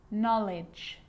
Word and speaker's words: knowledge: you know this one a K is not pronounced when it comes before an M like knife no knee knock not knowledge the letter L can